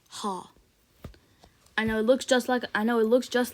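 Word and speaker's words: Х: it's called ha and it's supposed to be pronounced as the H sound the H sound in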